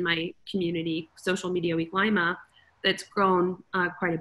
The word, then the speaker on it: Lima: that's fantastic is it is it peru uh lima ohio okay i thought it's peru lima peru okay no we get that a lot though but it's pronounced lima okay yeah maybe that's why they first agreed